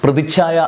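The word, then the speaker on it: പ്രതിച്ഛായ: പ്രതിഛായ എന്നാണ് ഉച്ചാരണം. പ്രതിഛായ അല്ല ചായയും ഛായും കൂടി അക്ഷരം ചേർത്ത് വേണം.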